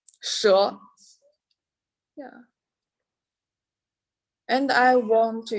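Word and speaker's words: 蛇: one is a snake its pronunciation is sure yeah and i want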